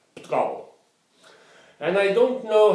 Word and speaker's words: Portugal: Portugal, Portugiesisch ist vermutlich die einzige Lingua, die den Namen Portugal einsilbig pronuncieren kann. Portugal.